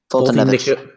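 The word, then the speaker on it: Foltynewicz: I like Fulton-Nickwitz. Oh, I can't pronounce his name. I think you got it right. Fulton-Nevich.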